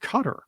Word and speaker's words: Qatar: never forget when we learned that Qatar was pronounced cutter back in the 90s and